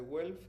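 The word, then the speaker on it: Guelph: Hon be Research Center Universidad de Welff Canadá.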